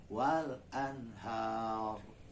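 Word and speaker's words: والأنهار: Kalau berhenti menjadi sukun. Nah, dia menjadi tebal ro-nya. Pada kata wal anhar, ro-nya menjadi tebal karena berhenti di huruf ro kita bacanya, kemudian ada alif mati yang disebut dengan huruf mad. Sebelumnya itu ada tanda baca fathah, anhar. Gitu. Jadi itu juga ro-nya dibaca tebal ya.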